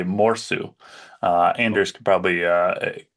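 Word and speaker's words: mursu: So the Finnish pronunciation, which I'm not good with my Finnish, but I believe it would be morsu. Anders could probably correct me if I'm wrong there, but yeah, morsu is a walrus in Finnish.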